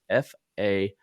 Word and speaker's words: Fahncke: because it's not spelled the way that it's pronounced. It's Fahncke.